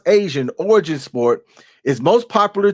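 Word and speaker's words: ASEAN: Sepik Takraw, an Asian, and that is pronounced Asian, origin sport, is most popular to which of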